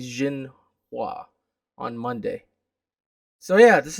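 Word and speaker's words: Xinhua: agency uh i think the x you pronounce is z i think jin hua on monday so yeah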